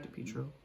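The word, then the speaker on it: DePietro: De Pietro. De Pietro. Yeah, that's a good way to pronounce it.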